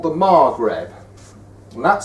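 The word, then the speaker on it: Maghreb: a group of countries which are called the margreb and that spelled m a g h r e b the Margaret the Margaret countries are Morocco Algeria Libya and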